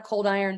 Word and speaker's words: Coldiron: name so at Hannah coldiron there's no h at the end and it's hot iron but cold so that's how you